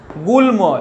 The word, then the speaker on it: গুল্ম: কীরকম দেখো যুগ্ম, দেখো যুগ্ম, গয়ের উচ্চারণ হচ্ছে, ময়েরও উচ্চারণ হচ্ছে, গুল্ম ল এবং ম দুটোরই উচ্চারণ হচ্ছে, এবং তন্ময়, দেখো তন্ময়, ময়ের পরিষ্কার উচ্চারণ হচ্ছে।